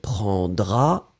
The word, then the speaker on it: prendras: take, tu prendras, il prendra, elle prendra. Remember that in fact you will pronounce the tu form prendra with this final S and the il, elle form prendra the same way.